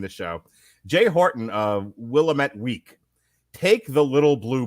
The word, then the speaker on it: Willamette: It's Willamette, damn it. Willamette, damn it. All right. And on that note, what do we think of this Matrix movie? Well, it's Willamette, damn it.